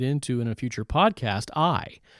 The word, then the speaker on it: Ai: And also, let's mention not just Jericho, but we're going to get into in a future podcast, Ai, spelled A-I. Some pronounce it A-I, but it's Jericho and Ai constitute the two most important cities for the purpose of investigation into the Bible.